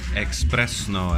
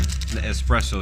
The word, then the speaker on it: espresso: think they do things expresso as some would say uh very quickly espresso is the pr correct pronunciation but I'm making a play